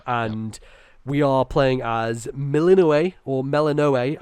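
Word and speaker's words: Melinoë: we are playing as melino or melano I think melano is the Greek actual pronunciation but um a lot of characters in the game say melino and um she is zagar's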